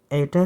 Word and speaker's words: eta: This is the yeah I have used eta here and not new. I'm mispronouncing as new every time that's wrong. It is eta not new.